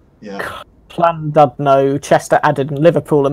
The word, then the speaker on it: Llandudno: I only know that double L is pronounced cla. Okay, well, Con something E. Yeah. Llandudno, Chester added, and Liverpool and Manchester rebuild.